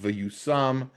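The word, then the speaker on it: וַיּוּשַׂם: It's pronounced vayusam, but it's spelled differently, obviously with the vavs.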